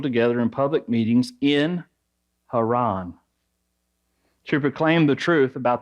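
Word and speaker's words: חרן: The Hebrew name for Haran is Haran. It is spelled Het, Resh, Nun.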